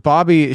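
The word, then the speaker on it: Bobye: Bobby Holt it's pronounced it's pronounced Bobby it's spelled b-o-b-y-e and all of the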